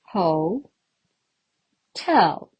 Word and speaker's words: hotel: syllables are there here ho tell just like climbing up the stairs Hotel the stress mark falls on the second syllable so we pronounce the second syllable with more emphasis what is this called